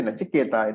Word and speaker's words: Nachiketa: this remember the pronunciations when you say nachiketa it is the boy who's being referred to when you say naachi